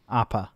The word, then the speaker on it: Appa: Appa? Did I Appa. say it right? APPA. Yeah. Appa.